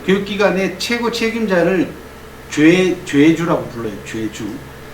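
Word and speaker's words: 좨주: 죄주. 그 오하고 아이를 씁니다. 한자로는 제사 지낼 때 제자예요. 제사 제자를 쓰고 술주자를 씁니다. 근데 읽을 때는 우리가 전통적으로 읽을 때는 죄주라고 읽어왔어요. 왜 그런지 난 이해가 안 갑니다.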